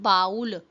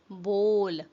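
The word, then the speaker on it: bowl: pronounce the word बोल इट्स नॉट बाउल इट्स बोल बोल हाउ डू यू प्रोनाउंस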